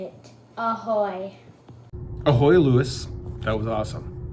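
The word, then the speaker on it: ahoj: Ahoy.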